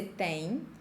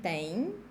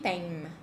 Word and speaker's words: tem: I don't want to see you saying tem, because this is so gringo, okay? We don't have the sound m in the end of words.